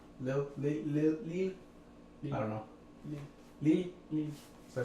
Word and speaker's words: Lille: Lille.